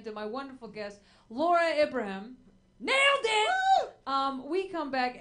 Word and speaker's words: Ibrahim: I just don't know how to say it because my mind just goes to Abraham. Yeah. And it's Ibrahim. It's Abraham with I's instead of A's.